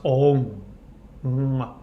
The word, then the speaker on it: Om: Om is pronounced Om.